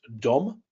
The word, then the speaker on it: Dom: for house or home it's pronounced dumb and dumb just means house now Dom kind of sounds like the English word Dome so picture maybe a